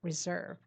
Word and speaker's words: reserve: The stress is on the second syllable. Reserve.